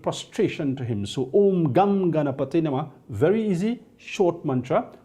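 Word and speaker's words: गं: on that would gum it's not gun it's gum it's Sanskrit and the pronunciation is important because the daughter do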